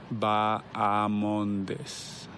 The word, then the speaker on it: Bahamondes: Ignacio La Jaula Bahamondes. All right, so what the Chileans would like you to know, it's that second syllable, not ha, even though you see the H, right?